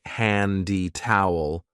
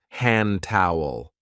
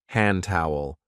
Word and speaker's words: hand towel: We don't usually say handy towel. We link it and we say hand towel. Hand towel.